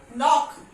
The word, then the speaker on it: knock: Knife, हम इसको इसी को प्रोनाउंस करते हैं. No, okay. Knee, नॉक, नॉट, गॉट इट.